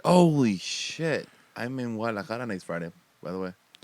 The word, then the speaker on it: Guadalajara: Guadalajara. You don't pronounce the G. Yeah. No, yeah. It's like guacamole. Yeah, like guacamole.